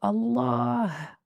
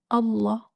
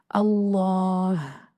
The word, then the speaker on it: الله: the name of Allah, don't forget the sound of the ha at the end, because the name of Allah is Allah, not Allah, like some people say.